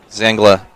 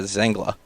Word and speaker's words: Zangla: done by paula see zangala i apologize i've been mispronouncing name all of last week and in the introduction her name is zangla she qualified 10th in